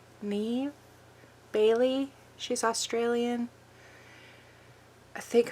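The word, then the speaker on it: Niamh: pronounce her name properly Nave Nave Bailey she's Australian I think her name is spelled not as it sounds um n a i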